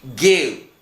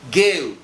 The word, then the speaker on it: go: Pergi, go. Ow, lah ini bacanya ow, go. Enggak boleh bacanya go, enggak.